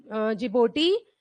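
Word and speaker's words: Djibouti: Eritrea, जिड जिबोटी D silent है।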